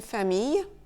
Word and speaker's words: famille: ILL, il peut se prononcer ye. Une famille, travailler, se maquiller, se réveiller, une feuille ou encore une fille.